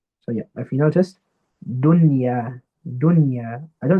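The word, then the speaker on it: دنيا: So yeah, if you noticed, dunya, dunya. I don't say dunya. I don't do idgham here. I don't say dunya, sunwan. No, I pronounce it clearly and normally.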